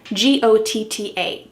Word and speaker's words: gotta: We often write this in a text message or in a quick email as G-O-T-T-A, gotta. What's happening with the pronunciation? That T is changing to a D.